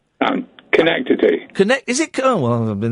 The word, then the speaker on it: Schenectady: Is it not Schenectady? It's Schenectady.